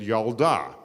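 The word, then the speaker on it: ילדה: form the same pattern there are a bunch of words in Hebrew that when you make them feminine the e sound changes to an ah so you have I'm doing the vowels with my fingers so you have yelled as a boy and yalda you have Melech is a boy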